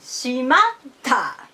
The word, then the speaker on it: しまった: others or to yourselves should be pronounced Middle High style we say shimata same after the origin